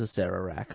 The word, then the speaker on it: Acererak: It is Acererak.